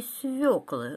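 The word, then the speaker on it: свёкла: свекла я у тети фёкла ела борщ и свекла говорит машинка серии прилетел мохнатый шмель и уселся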